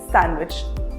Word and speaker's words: sandwich: It's sandwich. The letter D is silent here.